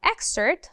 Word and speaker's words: excerpt: You are going to read an excerpt from a novel. So remember, the P is silent in excerpt. Excerpt.